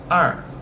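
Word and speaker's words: 二: And it's pronounced er.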